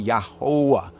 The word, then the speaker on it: Jehovah: jehovah you remember that in german the j sound is pronounced as a y sound and the v sound in german is pronounced as a w sound so even we look